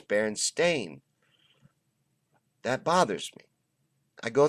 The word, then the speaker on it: Berenstain: all Mandela effects is the Berenstein bears the berenstain bears they say are the berenstain bears wait